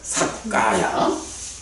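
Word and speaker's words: sakkāya: 삭가야. 까야가 몸이죠. 몸, 신. 유라고 하는 것은 어떤 말일까? 사실은 요 삭 이랬는데 이게 사뜨예요. 사뜨인데 T하고 K하고가 연이어 나오면서 이게 T가 K로 발음이 바뀔 거예요.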